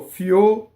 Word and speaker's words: fior: And this one you want to go fior, separate when you practice. Do your O, R, and then roll your R.